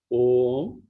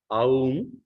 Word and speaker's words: Om: So there are people who pronounce Aum, but that's not warranted. We can say Om itself. Phonetically, A, U are included in O itself.